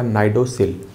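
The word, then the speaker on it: cnidocil: सी यहाँ पे साइलेंट होगा, नाइडोसिल। ये जो नाइडोसिल है ये ट्रिगर का काम करता है।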